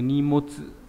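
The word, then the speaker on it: 荷物: Đọc đặc biệt trong từ nimotsu là hành lý này.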